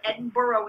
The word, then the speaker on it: Edinburgh: like go up to Edinburg um that's how you spell it Edinburough is how they want you to say it e d i n